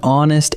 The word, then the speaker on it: honest: An honest answer. The word honest begins with the letter H, but that H is silent, so honest actually opens with a vowel sound.